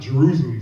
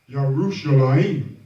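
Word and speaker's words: ירושלים: So that's there's no J, so it's not Jerusalem. So most of the English people say it's Jerusalem, but it's not Jerusalem. It's Yerushalayim.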